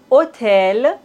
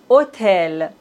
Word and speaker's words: hôtel: Dans la langue française, on ne prononce pas le H comme si ça n'existait pas du tout. Homme, hôpital, hôtel, véhicule.